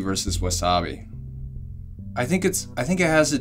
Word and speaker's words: wasabi: But then when you don't put the accent on the second syllable.